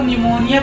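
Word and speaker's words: pneumonia: पढ़ेंगे निमोनिया पढ़ेंगे इसको क्योंकि पी साइलेंट है पी साइलेंट है इसलिए इसको निमोनिया पढ़ेंगे एंड दूसरा एग्जांपल देखते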